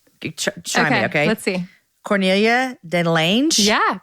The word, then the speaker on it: Cornelia de Lange: Cornelia de Lange? Yeah, Cornelia de Lange.